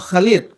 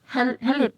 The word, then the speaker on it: Khalid: gimana bacanya? Khalid. Halid. Iya, Khalid. Dia pakai KH kan? Iya. Khalidnya kan? Iya. KH LEED. KHALEED. Iya, Khalid. Iya. Khalid kalau orang Arab bilang Khalid.